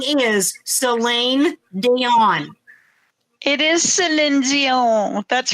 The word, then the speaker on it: Celine Dion: That's how it's spelled, and that is how it's spoke, Celine Dion, because we don't speak French.